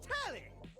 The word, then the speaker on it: Telly: The name's Tally. Rhymes with Nelly. Like, whoa, Nelly.